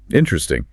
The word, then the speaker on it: interesting: Another classic is the word interesting. It is written as 4 syllables. Interesting. But in real-world application, the second syllable is completely elided. Exactly. It becomes 3 syllables.